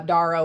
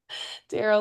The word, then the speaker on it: Darrow: Uh when people always say or sometimes they'll say your name wrong uh Daro or something and I'm like no it's like the arrow because I always think of your logo Darl like the arrow.